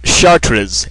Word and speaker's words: Chartres: The Cathedral of Chartres in France.